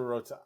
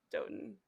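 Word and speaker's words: Dotun: We got to go on to Rotan. I love Yeah. him. I love I Rotan. love him. I think I love him. it's Doten.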